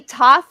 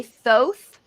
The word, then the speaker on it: Thoth: so mad dog yeah some people do say tough some people say Thoth and some people say Thoth um it's it's not there's not one set pronunciation of the name Thoth I say thoughts everyone I know it says Thoth um Billy Carson says Thoth and some people will say Hoth I don't think it